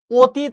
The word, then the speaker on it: অতীত: অতীত আমরা এটা লিখছি, কিন্তু যখন আমি উচ্চারণ করি অ সবসময় উচ্চারণ করি ও এর মতো, ঠিক কিনা?